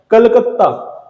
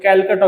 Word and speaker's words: कोलकाता: एक नोव्हेंबर 1973 ला कलकत्ता मूळ नाव त्याच खरं कोलकाताच पण ब्रिटिशांकडन अपभप्रभवेश होऊन त्याच्या प्रोनन्सशन मध्ये चुका करून कोलकाताच त्यांनी कॅलकटा करून ठेवलं होतं त्या कॅलकला पुन्हा पूर्वत करून कोलकाता करण्यात आलं 1 जानेवारी 2001 ला